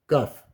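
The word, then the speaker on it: כף: Pronounced Kaf.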